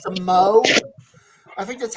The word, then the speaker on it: Moog: yeah, Synthesizers, beginning with the Moog, it's actually pronounced the Moog.